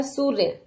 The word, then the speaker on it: सूर्य: के ऊपर देखिए सबसे पहला शब्द है हमारा सूर्य सूर्य मीन सूरज जो कि एक पर्यायवाची शब्द है सूरज का सूर्य अब इसका उच्चारण कैसे करना इसको पढ़ना कैसे वही हमें